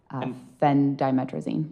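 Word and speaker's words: phendimetrazine: Um that is spelled P H E N D I M E T R A Z I N Fen Dimetrazine.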